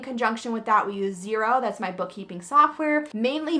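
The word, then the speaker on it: Xero: those reports but it's x e r o is how you spell it zero and absolutely love using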